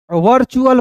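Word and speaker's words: virtual: Word में टी के बाद दोस्तों यू ए एल आए। वर्ड में अंतिम में यू ए एल आएगा तो टी का उच्चारण किसके रूप में करेंगे? च के रूप में करेंगे। च के रूप में। क्लियर है? देखिए यहां पे वी आई आर टी यू एल। तो इसे क्या पढ़ेंगे दोस्तों? वर्चुअल पढ़ेंगे।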